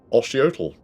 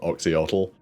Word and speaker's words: Oxyotl: I think it should be Oshiotl. By the pronunciation guide. In the Lisbon books. Those combinations of letters are pronounced that way for like cities and things. It could be Osh, I think. This isn't like it's a real name, it's Aislinn. Like, this is, you know, purely going by a pronunciation guide in an old army book.